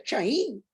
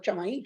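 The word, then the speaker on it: Samhain: fiesta llamada Chaín, Chamaín, que se pronuncia Chaín, no Chamaín, Chaín, o Sawin, ni leyéndolo, vean nada más.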